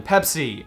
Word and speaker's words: Pepsi: Pepsi did in Argentina they changed their name to pessi see 25% of the population there was mispronouncing their name that way and apparently it is easier phonetically for Spanish speakers to say pessy rather than Pepsi but still 75% of argentinians were saying it the correct way can someone